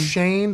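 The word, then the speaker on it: Schoen: over there Shane right Joe Shane spelled shown pronounced Shane him and day bowl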